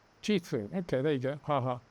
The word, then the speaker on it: Jithu: Jithu7573 says, if you have difficulty with my name like last time, it's pronounced Jithu. Jithu.